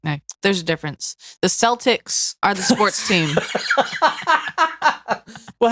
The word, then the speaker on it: Celtics: the it's Boston Celtics the way that's the way that people pronounce it but if you're talking about anything other than the the basketball team it's Celtic she had a I refuse